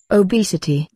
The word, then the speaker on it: obesity: Obesity.